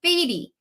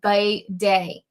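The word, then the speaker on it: Badie: the club of its bidet. So I think it's like bidet, like what we see all over Europe.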